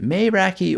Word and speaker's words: Meraki: some Greek speakers and some of them pronounce it with this kind of may sound and some were more like a mayor sound so what am I